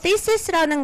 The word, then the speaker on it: thesis: 그래서 여기에서요, 요 thesis라는 거를요, 학생들이 발음 좀 많이 틀리더라고요. work on my thesis. 이렇게 들어가요. TH에서는 무조건 혀 한 번씩 물어주시고요. thesis. 이렇게 들어가시면 돼요. 자, work on my thesis.